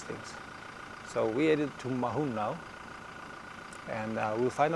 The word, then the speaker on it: Maun: It seems that the pronunciation or the the name stems from Mahung, M A U N G. So I I think Mahun with an N at the end is probably the most appropriate pronunciation, but who knows with these things.